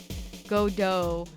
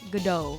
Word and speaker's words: Godot: He's named after En Attendant Godot, the French play. And was it about a guy who liked coffee? The tea is silent because he doesn't drink tea. He drinks coffee.